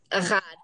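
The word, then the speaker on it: אחד: Echad. Echad. You know, Echad. Passover, when you know, who knows one, I know one, one is Hashem in heaven and the earth, or some people go, Echad mi yodeya, Echad ani yodeya, Echad Eloheinu, blah,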